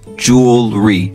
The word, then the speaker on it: jewelry: If you want to say it with an American accent, jewelry, two syllables, and spelled J-E-W-E-L-R-Y.